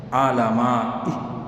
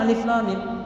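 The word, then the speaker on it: الم: Alama.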